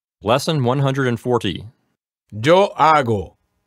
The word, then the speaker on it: hago: Okay, Antonio, here we want to make sure that they don't pronounce the H at the beginning of these verbs, right? Mm-hmm. We don't want anyone to say hago or hacer.